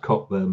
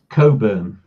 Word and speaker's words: Cockburn: bummers okay he's burn funnily enough it's not pronounced Cockburn but anyway how's Coburn okay well is in